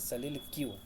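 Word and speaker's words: soliloquy: सल क्यू में ए इसे बोलते हैं सलील क्यू ठीक एस ओ एल आई एल ओ क्यू यू वाई देखिए क्या होता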